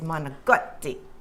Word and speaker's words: manicotti: Manicotti go ahead Lynn the right way to say it the Italian way to say it is manotti manot yeah you have to